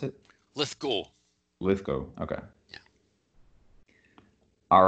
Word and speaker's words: Lithgow: invite yeah absolutely okay all right and it's lit gal is how i pronounce it let's go lithgow okay all right everybody so today we have